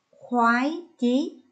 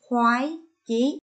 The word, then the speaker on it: khoái chí: Khoái chí, lưu ý cho cô vần oai. Khi phát âm vần oai và tiếng khoái, các con phải tròn môi. Các con lắng nghe cô đọc lại. Khoái chí.